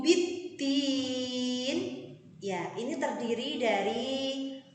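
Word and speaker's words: بِالدِّينِ: Kemudian pada lafal biddin itu adalah al-syamsiyah, di mana ada huruf dal setelah alif lam, maka biddin harus ditekan.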